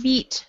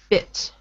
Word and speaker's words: bit: Same idea with the word bit. So not beat, but bit.